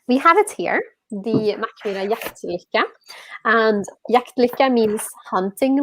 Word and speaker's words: Mackmyra: You said it already, and it's Mackmyra Inn. Yeah, well done. Oh. Jaktlika? Yeah, well done. I mean, we have it here, the Mackmyra Jaktlika.